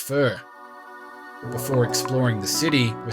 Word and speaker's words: pho: And in Hanoi, that means faux, pronounced fur.